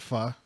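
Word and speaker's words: phở: it's like way before everyone else was you pronounce it Pho yeah not pretentiously and you know I just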